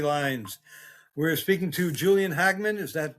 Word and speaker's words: Hagman: We're speaking to Julian Hagman. Is that how you pronounce it?